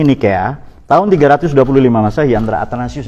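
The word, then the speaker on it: Nicaea: Nikea, tulisannya Nicea atau Niceae. Di konsili Niceae, ini cara bacanya Nikea, tahun 325 Masehi antara Athanasius dan Arius.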